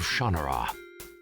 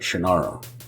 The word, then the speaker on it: Shannara: to the sword of shanur you must face and Destroy brona forever you know it's also interesting that this whole thing they're pronouncing it shanur and I've always pronounced it shinara uh but pretty much